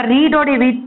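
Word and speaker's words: read: அப்ப ரீடோட we three form என்னது, அதே ஸ்பெல்லிங் தான், பட் ப்ரொனவுன்ஸ் பண்ணும்போது ரெட் அப்படின்னு சொல்லணும்.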